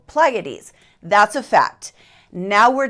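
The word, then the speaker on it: Pleiades: now I found articles saying the word is pronounced pades articles that says it's pronounced pleades and articles that said different versions I typed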